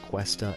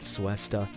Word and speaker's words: Cuesta: He told me that it's pronounced Cuesta and not Suesta. So moving forward, it will be Hernan Cuesta.